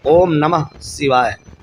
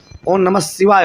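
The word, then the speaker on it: ॐ नमः शिवाय: और कुछ नहीं नहीं ओम नमः शिवाय ये शुद्ध उच्चारण करें क्योंकि बहुत से लोग ओम नमः शिवाय बोल देते हैं वो गलत है और ये भी हम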